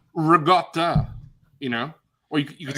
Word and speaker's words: ricotta: The better question is, how do you pronounce ricotta? Because if you're true. Ricotta. Because you could say rigot, like if you're, from New York.